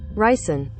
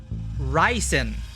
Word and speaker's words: ricin: pronounce risen it keeps coming up listen pronunciation ricin ricin ricin okay and rice and poisoning matches up with